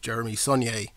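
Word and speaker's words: Jeremy Saulnier: And as you mentioned before, this is the third time you've worked with Jeremy Saunier, as I'm told is how you are the correct way to pronounce his name, because I have been saying it wrong for quite a while now.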